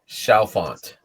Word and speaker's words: Chalfont: Chalfont.